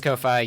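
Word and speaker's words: Ko-fi: Um, Lilac was actually able to uh get they had a uh is it Kofi? Kaufi. I don't know how to pronounce that. It's Kofi.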